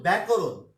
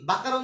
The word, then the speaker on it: ব্যাকরণ: এর উচ্চারণ পাই যেমন ব্যাকরণ ব্যাকরণ কি বাকারণ বলো তুমি লেখো তো এটাকে তুমি এটাকে বাকরণ বলো না বা আনা কিন্তু এটা ব্যা ব্যাকরণ ব্যাঙ বুঝতে পেরেছ ব্যাঙ তারপর